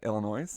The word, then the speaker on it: Illinois: How do you say the state we live in? Illinois. There you go. Yeah, Illinois. Yeah, don't say the S.